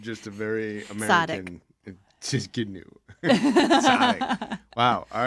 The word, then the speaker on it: Tsidkenu: Tsadik. Whoa. What? That is not what it looks like. Again? Tsadik. Tsadik. It's a T-S or a T-Z yeah. sound.